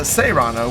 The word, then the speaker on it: Serrano: Their names are very similar, but this is the Seano with a long a sound in the first part of its name.